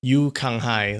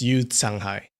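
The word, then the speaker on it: Yu Canghai: that uh that guy you kang hai that's not how you say his name it's you sanghai when you see a c followed by a vowel well that's kind of a s sound all right that's the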